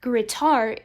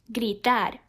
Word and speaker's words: gritar: the e indeed therefore what some people might pronounce gritar is actually pronounced gritar and now let's focus